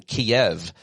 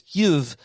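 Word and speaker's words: Kyiv: where, by the way, I've been pronouncing Kiev too often. Longtime listener John V sent me a correct pronunciation. I'll try to do better. It's Kiev.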